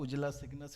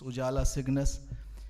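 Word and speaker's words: Ujala Cygnus: done by our anchor it's not not ujala signus it's ujala signus thank you so much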